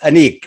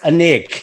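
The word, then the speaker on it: Anek: interview okay so firstly um the film is pronounced anik right yes okay good because i was having this big my mom was like i'm sure it's a nick and i was so we were having this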